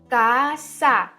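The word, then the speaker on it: casa: कैसे पता हमें?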